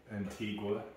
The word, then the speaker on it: Antigua: Well, you know, A-N-T-I-G-U-A? Antigua. It's Antigua. Antigua. So no so U. That's tricky. Okay. I know. I remember when my sister went there on vacation, and we thought it was Antigua, but then she got